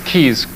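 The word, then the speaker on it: Caius: beautiful dormitory for students it's Keys called Keys College but it's spelled see a by us he's College in Cambridge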